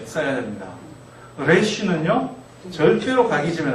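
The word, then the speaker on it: ריש: 레쉬. 영어처럼 이렇게 혀를 말아서는 안 하시면 좋을 것 같아요. 이쪽은 혀를 말아서 내는 소리, 레쉬가 아니고요. 레쉬. 우리 그냥 리을 흘러가는 발음할 때 하고 같이 하시면 돼요. 레쉬.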